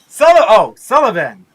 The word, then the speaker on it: Sullivan: Did I pronounce that right? Sullivan.